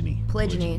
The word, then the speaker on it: polygyny: I was just in a polygamous relationship, is that how you say it? Closed on one end. Polygyny.